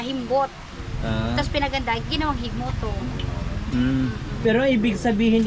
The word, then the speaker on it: Gigmoto: nakakasakop dito e gigmoto Anong pronunciation ba nung G hig Moto hig Moto hig Moto Oo Anong